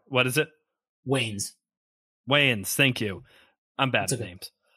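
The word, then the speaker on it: Wayans: Williams as Harvey D it does have the wans uh Marlin wans as Robin like it does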